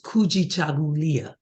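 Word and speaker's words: kujichagulia: the second principle is kuji chagulia that's a little harder and I'm going to say it slowly cool g cha if you saw the word written it's written just like it sounds in syllables can you say that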